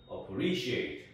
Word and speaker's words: appreciate: 모음 두 번째 모음 두 번째 모음에서 강세가 옵니다 그래서 appreciate appreciate 이렇게 하면 안 돼요여 여기에 강세가 들어가서 appreciate appreciate 이런 식으로 이제